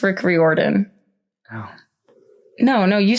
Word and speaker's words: Riordan: I always thought his name was pronounced Rick Riordan, but it's Rick Riordan.